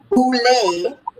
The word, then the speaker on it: boule: research this word for me it is called boule although it is spelled b-o-u-l-e look at the people who belong to that